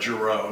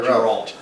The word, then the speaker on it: Giroux: I can tell you're from town because you said it right, Giroux, not Geralt.